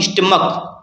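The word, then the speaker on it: stomach: ये विशेष ध्यान देना है कि अगर कोई नाउन है जिसके अंत में CH है लेकिन प्रोनाउंसिएशन का निकल रहा है तो उसके अंत में हम ES नहीं जोड़ेंगे बल्कि S जोड़ेंगे। जैसे यहाँ पर लिखा हुआ है स्टमक, क्या पढ़ते हैं इसको? स्टमक पढ़ते हैं।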